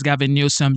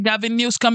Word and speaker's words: Newsom: that Gavin nusum and most people say his name is Gavin Nome Genesis stop calling him Gavin newcom his name is Gavin